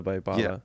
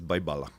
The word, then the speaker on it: Baibala: just because of the Baipala. Yeah. By the way, it's Baipala. Oh, even though it's a B, you pronounce it as a P. Really? Nobody says Baibala.